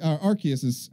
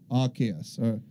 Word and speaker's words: Arceus: system is Arceus and that's how it's pronounced in japanese is Arceus other chaos yeah maybe